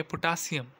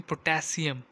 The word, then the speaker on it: पोटेशियम: पोटेशियम भी अंग्रेज़ी में कह सकते हैं, लेकिन अगर आपकी प्रोनाउंसिएशन नहीं सही, आप कहेंगे पोटासियम, लेकिन क्या है रियल इसकी प्रोनाउंसिएशन? पोटेशियम।